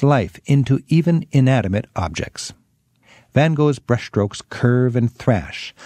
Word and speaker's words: Van Gogh: to the impressionist style Vincent van Gogh or then Huck as the Dutchman himself would have pronounced it like